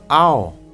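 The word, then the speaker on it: เอา: Следующее слово «ао» произносится в обычной тональности «ао», «ао».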